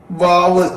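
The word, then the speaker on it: و: വാവ്, അപ്പൊ 2 ചുണ്ടുകള് നടുഭാഗം അല്പം തുറന്നിട്ടിട്ടാണ് വാവ് വരുന്നത്.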